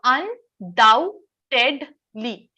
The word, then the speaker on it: undoubtedly: So undoubtedly. ये जो B होता है इसको हम pronounce नहीं करते हैं. इसका pronunciation कुछ इस तरीके का होता है. Undoubtedly. 4 syllables है.